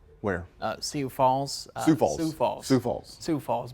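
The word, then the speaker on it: Sioux Falls: always say that wrong where uh see Falls sou falls falls sou Falls sou Falls my brand which fun fact are there sou Falls s IO ux that's in South Dakota uh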